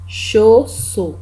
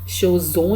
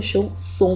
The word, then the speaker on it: chausson: इसको कहते हैं un chausson, chaud CHAU, chaud double SON, son, chausson। ध्यान से, क्योंकि यहाँ पे अगर डबल एस है, दो बार एस लिखा हुआ है, तो इसको एस की तरह प्रोनाउंस करना है, इसको